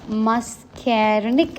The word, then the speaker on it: muscarinic: So the brake pad blocks you see uh mascarinic. Okay. So it's pronounced as mascarinic receptors.